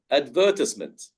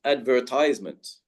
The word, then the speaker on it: advertisement: So the correct word is advertisement with that pronunciation, advertisement. Americans would stress the R and say advertisement.